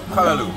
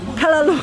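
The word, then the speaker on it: callaloo: Kalalu or Kalalo? Kalalu. Kalalu.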